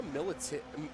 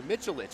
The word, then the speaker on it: Mitchellic: We've got Sarah Militzic Sorry, Mitchellic. I've been pronouncing your name wrong all day.